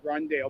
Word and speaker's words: Rondale: All right, Rondell. Rondell. Rondell. It's spelled capital RONDALE.